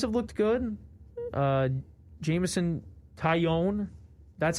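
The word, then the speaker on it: Taillon: guys uh guys have looked good uh jameson taiyon that's how you pronounce his name kion yeah pitched yesterday he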